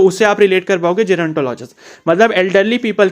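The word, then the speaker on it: gerontologist: तो ऐसे इस प्रैक्टिशनर को हम क्या बोलते हैं, जेरोंटोलॉजिस्ट बोलते हैं, या गेरोंटोलॉजिस्ट भी बोल सकते हो आप, ठीक है। तो जेरोंटोलॉजिस्ट will be the right pronunciation.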